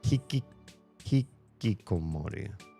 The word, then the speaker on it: Hikikomori: Hikikomori.